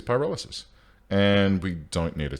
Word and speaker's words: pyrolysis: to be pronounced as what is it pyrolysis it is pyrolysis and we don't need